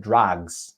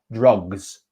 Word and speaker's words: drugs: and said drugs drugs you said drags it's an ah sound so it's uh drugs drugs okay so two